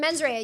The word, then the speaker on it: mens rea: His accent, he used to say he would say mens rea, and I loved that. Well, that's how way you he should say it from now pronounced on. Mens rea. Kind of like Meg Ryan.